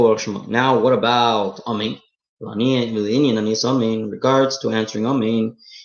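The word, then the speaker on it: אָמֵן: He has to say, pronounce the word Amen properly. He shouldn't say main. Sounds like main. He should say Amen. He should say the full word. He shouldn't swallow the aleph of Amen.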